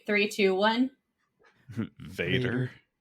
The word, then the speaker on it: Vader: right three two one Vader Vader yes and not as Bella says in Pitch Perfect fader and German meets father